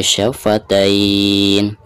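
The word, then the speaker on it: شفتين: Walisanau wa syafatain. Ketika diwakofkan maka di sini dihukumi mad lin karena setelah harkat fathah ada ya sukun ya. Cara membacanya bisa 2, bisa 4 dan bisa 6 harokat.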